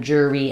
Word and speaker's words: jury: denote this way and then jury ends with the e. So I would think about that like jur e. So I'm writing jur this way because we definitely need a tight r sound here.